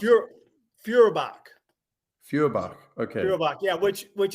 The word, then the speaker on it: Feuerbach: How do you pronounce it? Feuerbach.